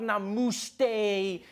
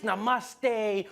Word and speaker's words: namaste: People were coming on like, dude, it's not namuste, it's namaste.